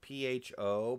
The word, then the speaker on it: pho: It's pronounced, it's spelled like pho, like P-H-O, but it's pronounced pho.